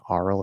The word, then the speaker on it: aural: So difference of pronunciation, one uses an R colored ah, the other one uses an R colored O.